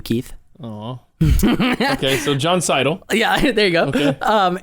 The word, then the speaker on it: Seidl: Wait, do you get offended when people pronounce it Seidel? Like, I think I did probably. I no. You just let it go? It's a term of endearment from you, Keith. Oh. Okay, so Jon Seidl.